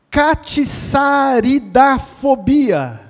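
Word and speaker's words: catsaridafobia: Catiçaridafobia. Olha só, gente, vou repetir. O T é mudo, catiçaridafobia.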